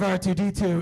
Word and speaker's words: R2: R2 Unchained. The R is silent.